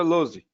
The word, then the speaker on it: Luz: eu ver aí ó esse é meu sobrenome luz ela verdade se pronuncia loose moose ok é isso